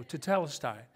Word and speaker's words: tetelestai: like rj's going to go no you must pronounce that right so so tetelestai but this is kind of a cool thing